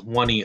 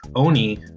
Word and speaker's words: Oni: the totally botched category I pronounced Oni NG as wani OG this was both a mispronunciation and a misreading in one it's Oni not one e and the letters at